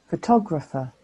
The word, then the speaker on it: photographer: answers all at once this next word has four syllables and there are four vowel sounds how many of these do you think are schwarz photographer for tografa photographer do you know now how many schwas there are there may be more